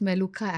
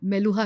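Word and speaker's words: Meluhha: एंड how this word appeared जो मेलुहा मेलूहा अमीष त्रिपाठी जी का जो नवेल आया ना मेलूहा उन्होंने फेमस कर दिया actually it is pronounced S बेलुखा मेलुखा double ख है उसमें सो इन वन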